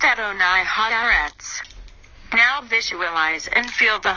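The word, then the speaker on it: אדני הארץ: At an oil Haratz, meaning Lord of the Earth, pronounced Adonai Haaretz.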